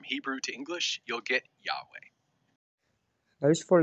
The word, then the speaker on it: Yahweh: To say it correctly, you don't use your tongue and you can't close your lips.